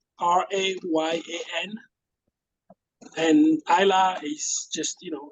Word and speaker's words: Isla: Ryan is the French spelling Rayan, and Isla is just, it's like island without the end part.